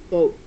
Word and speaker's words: boat: is boat okay and this is an O A word this has o and a in the middle of it boat boat it's going to go right here b o and see even though I'm only saying one sound here I'm writing two letters b o okay boat